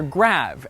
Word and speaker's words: grave: Or rather, grave, as it would have been pronounced in the original French.